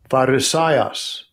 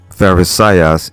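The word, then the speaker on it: Φαρισαῖος: We'll get the pronunciation to it. Strong's G 5330. Pharisaios. Pharisaios. Pharisaios in the Greek.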